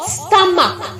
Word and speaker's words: stomach: only s for example s-t-o-m-a-c-h makes a word and gives you a pronunciation of stomach so ch is making the sound of k so i'm going to